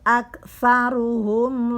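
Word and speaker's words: أكثرهم: Bukan ak, karena ini di sini adalah huruf kaf. Sa bukan sya. Sa. Kalau sya itu ada tanda satu lagi, bergerigi satu lagi, tapi ini huruf setelah huruf ta. Sa, tergigit lidah kita oleh gigi atas.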